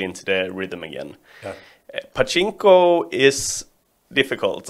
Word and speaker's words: Pachinko: Pachinko.